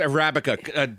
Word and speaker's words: Arabica: What kind? Arabica coffee. It's Arabica. Bonnie looked up the pronunciation for me.